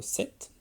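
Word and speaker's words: sept: Alors attention, le 7, le P ne se prononce pas.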